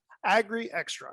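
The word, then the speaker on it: Agrixtra: do you say that agree extra is what we can actually oh you're doing it okay agree extra okay emphasize on the x as an angry extra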